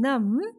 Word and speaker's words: numb: So B in climb, B in dumb, B in calm, and B in numb. Everywhere B is silent.